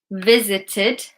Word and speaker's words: visited: Emma hasn't visit- visited. Okay? So it's id.